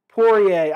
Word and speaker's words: Poirier: oliveira fight because connor bought more money yep pourier i know i constantly say it wrong it's